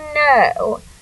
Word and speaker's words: know: your brain I I know 2 + 2 = 4 so as you can see we have a silent k n o w so that o w